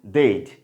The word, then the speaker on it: they'd: ওকে, এই জন্য এখানে এই যে দেওয়া যে দেখুন এই যে দেইড হচ্ছে কি সঠিক প্রোনাউন্সিয়েশন, কারেক্ট প্রোনাউন্সিয়েশন কি, দে হ্যাড a contracted form কি, দেইড, এবং কারেক্ট প্রোনাউন্সিয়েশন দেইড।